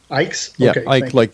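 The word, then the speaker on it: Icke: I don't know how you pronounce his last name. Ike like.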